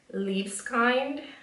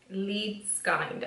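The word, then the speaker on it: Liebeskind: So now I'm gonna go back to the Chocolate Diamond Highlights by Vintage by Jessica Liebskind. Liebskind, I think that's the way it's pronounced. Liebskind, Liebskind. So we'll say Liebskind.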